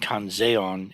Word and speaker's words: Kanzeon: So Quan Xiyin is the Chinese pronunciation, Kwanseom is the Korean pronunciation, and Kanzeon is the Japanese pronunciation.